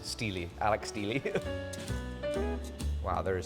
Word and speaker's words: Steele: wait your name is steel I thought it was Steely actually everybody's been pronouncing it wrong all these years it is Steely Alex Steely wow there